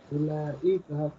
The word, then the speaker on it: أولئك: Ulaika, those. Okay. Note that the wow in ulaika is not pronounced. Okay. The word is pronounced ulaika. Okay.